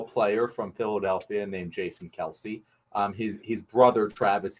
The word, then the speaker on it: Kelce: the planet uh but fun fact their last name isn't it's Kel and philadelphians just started calling him Kelsey and he never corrected him so now they're kelse